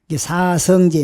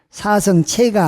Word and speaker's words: 사성제: 사성제, 4가지 성스러운 진리라. 이게 제로도 발음이 되지만 살필 체로도 발음이 돼요. 사성체가 아니고 사성제라고 읽을 때는 진실할 체, 진리를 의미한다 그 말이에요.